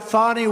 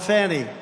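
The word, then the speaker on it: Fani: It's called Fanny. You have to pronounce Fonnie. I don't know how she gets She should add a little U in there someplace if she wants people to call her.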